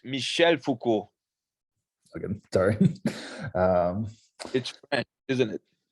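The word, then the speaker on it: Michel Foucault: um and Michael there you go yeah it's Michelle Foucault okay sorry um isn't it foreign I'm a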